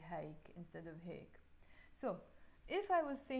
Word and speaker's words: هيك: So when I'm speaking it, I usually personally say هيك, not هيك. But maybe because of the song, she wants to make it rhyme with other words, so she says هيك. But also, of course, there are people who say هيك, and I think it's more like the villagey accent of Lebanon when you say هيك instead of هيك.